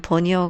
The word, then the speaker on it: veneer: 베니어 라고 도 하며 , 영어 에서 는 " veneer" 가 정확 한 발음 입니다 .